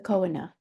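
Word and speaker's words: choanae: So the coina the coina are paired openings between the nasal cavity which is located here and the nasal fernx.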